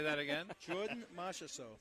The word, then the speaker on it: Marchessault: Oh, how are you going to pronounce this Jordan last Marchessault. name? Say that again? Jordan Marchessault. How did you learn that? Well, because I hear it on TV. Marchessault.